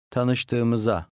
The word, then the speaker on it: Tanıştığımıza: The last undotted I is silent. Tanıştığımıza memnun oldum. Tanıştığımıza.